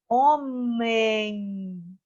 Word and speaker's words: homem: E o H não tem som, mas é uma letra.